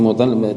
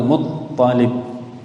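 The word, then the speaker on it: مطّلب: maulal Mutallib, budaknya Mutallib, bukan Mutallib, toknya yang ada tasydidnya, maulal Muttalib, maulal Muttalib, kilahuma, keduanya, an Asim bin Amr bin Qatadah, an Mahmud bin Lubaid radhiyallahu anhu.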